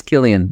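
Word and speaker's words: Cillian: have to look at kilan I think it's Killian with a c Killian M we can do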